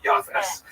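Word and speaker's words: Japheth: Uh he has a son named Jaffa. In the Ashkanazi pronunciation that would be Yafes.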